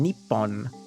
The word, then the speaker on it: Nippon: that um like the the only reason people say nihongo or nihon is apparently a very very long time ago, people just started to get lazy about pronouncing nepon. like they didn't they just didn't want to pronounce the hard P sound. They just literally got lazy about pronouncing the harsh P noise. So they started to soften it from nippon to nihon.